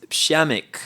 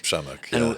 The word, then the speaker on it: Przemek: and your name is shamik shamik and uh you know it sounds like like a name you would see everywhere but if you see it in writing it's it's intimidating to pronounce that right yeah yeah